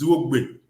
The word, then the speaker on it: Zwogbe: The real pronunciation for his name is Zwogbe.